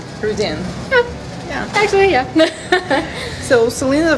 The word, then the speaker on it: Rydén: We have Celina Ryden, am I pronouncing it right? Yeah, it's like Ryden in English, but in Swedish it's Celina Ryden. Ryden.